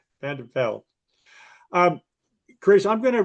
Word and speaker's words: van der Byl: Vanderbilt. You can pronounce your last name because I butchered it, but say hello. Hi, it's Vanderbil. Vanderbel.